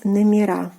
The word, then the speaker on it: номера: Номер, meaning number, and the plural form is номера. Номера. We are adding the stressed ending A.